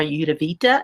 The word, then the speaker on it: Ayurveda: I think that anytime you can put an herb inside your products, Ayurveda or Ayurveda is how it's pronounced, then that's a good thing.